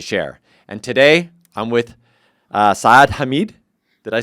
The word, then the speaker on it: Saad Hameed: And today, I'm with Saad Hameed.